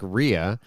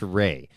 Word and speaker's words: Rea: his last name is looks like Ria R E A but it's Ray it's pronounced Ray so um he is